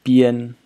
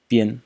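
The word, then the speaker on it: 编: So the first character is pronounced bian, bian, and the first tone has several meanings, at least four that I found.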